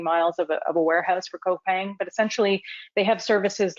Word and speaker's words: Coupang: I'm not sure if the group have heard about Coupang. You do pronounce the C.